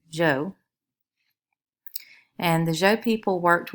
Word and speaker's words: Zhou: this time period so this is pronounced Joe in English English z h u Joe and the Joe people